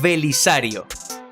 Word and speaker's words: Belisario: Belisario se sabe que en griego la letra Beta se puede pronunciar tanto como una B tanto como una V es decir que Belisario se puede pronunciar también como velisario de hecho así se pronuncia por ejemplo en ruso belisari teniendo en cuenta esto